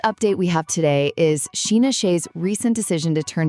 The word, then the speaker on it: Scheana: Sheena, whose name is pronounced Sheena by the way, even said she applauded Paige for leaving, pointing out that like no one walks away from these offers.